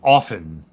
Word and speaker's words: often: Like often. The T is silent.